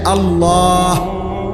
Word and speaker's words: আল্লাহ: হা পুরো স্পষ্ট বিশুদ্ধ উচ্চারণ হইতে হবে। শেষে আল্লাহ, শেষে একটা গোল হা আছে, ছোট হা।